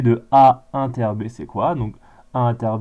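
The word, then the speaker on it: A ∩ B: Et donc du coup, on le note A inter B, ça se prononce A inter B.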